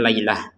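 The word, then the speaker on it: ليلة: Di sini lailatan ya, kita bacanya laylah. Laylah kita bacanya laylah menggunakan huruf ha. Huruf ta yang seperti ini maka dibacanya ha kalau kita berhenti.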